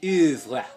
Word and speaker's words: oeuvre: It's pronounced denouement and oeuvre.